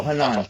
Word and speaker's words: Hanan: No, Hanan.